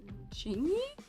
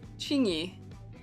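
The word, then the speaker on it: Qingyi: How do I pronounce a Q in this circumstance? Chingy? Yes, yeah, okay, my thought was right. Chingy.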